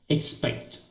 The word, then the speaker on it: expect: Uh, expect, Okay. expect, Okay. Don't do this sound. Okay. Don't do that sound. Just say expect, okay. Expect. expect, Okay. expect, The word is with the short I sound.